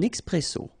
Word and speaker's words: expresso: Okay, remember, we've got this X here. Expresso.